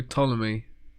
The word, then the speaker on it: Ptolemy: Yeah, that you don't pronounce the P. Oh, it's like pterodactyl. Starts with a P. Yeah. Yeah, you should know. It's only... We'll leave that one. So Ptolemy.